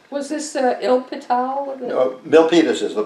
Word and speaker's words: Milpitas: so i left was this uh il patel milpitas is the pronunciation yeah so-called thousand corn fields okay okay